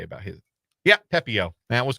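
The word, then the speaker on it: Pepiot: Yeah, Pepio.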